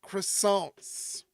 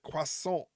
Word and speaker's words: croissant: for pronouncing Quant croissant we're not supposed to pronounce it croissant we're supposed to pronounce it Quant don't fit The Stereotype of wrestling fans being